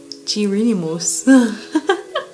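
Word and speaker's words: Géronimos: Gironimos.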